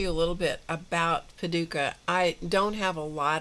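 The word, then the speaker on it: Paducah: So, what I thought I would do is um talk to you a little bit about Paduka. I don't have a lot of information about Paduka. It's spelled P A D U C A H in Kentucky.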